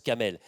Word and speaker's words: Camel: C'est Kamal, mais ça se prononce Kamel.